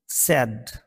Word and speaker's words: said: এটি কিন্তু said নয়, এই আই এর উচ্চারণও এ হয়। আবারও বলি, said, held, bend, bent, lend,